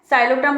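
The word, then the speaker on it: Psilotum: ठीक है, टेरिस इनमें P साइलेंट है, साइलोटम और टेरिस में, लेकिन स्पेलिंग इनकी P से है, तो हमने यहाँ पे लिया पूल पार्टी।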